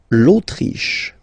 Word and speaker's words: Autriche: L'Autriche, okay, remember sh here. L'Autriche, l'Autriche, okay?